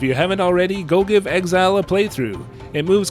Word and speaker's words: XZR: first two pc releases i am often tempted to pronounce it exer but if we look at the katakana it turns out that this game is also supposed to be pronounced exile however for the sake